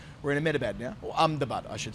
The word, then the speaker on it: Ahmedabad: The pronunciation is not as you would expect when you look at it on the page, but Ahmedabad, I'm told, is the way you say it in these parts.